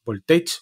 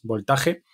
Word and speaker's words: Voltage: scot voltaje o voltage cómo se pronunci esto voltage voltaje eh con g con lo cual es voltage bueno da igual en